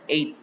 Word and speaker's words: ate: Ada lagi contoh misalnya eat, makan ya, berubah menjadi ate, tulisannya ate, bacanya ate.